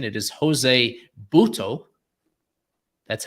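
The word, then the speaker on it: José Buttó: more so than Jose I looked at the pronunciation it is Jose buto that's how he pronounces it and then we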